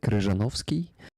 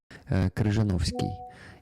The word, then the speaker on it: Kryzhanovskiy: His second name is, let me say it correctly, Kryzhanovskiy. Kryzhanovskiy in Ukrainian.